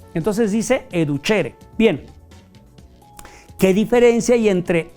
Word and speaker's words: educere: Educere, nada más que educere se pronuncia educhere. La c e en latín suena como ch. Entonces dice educhere.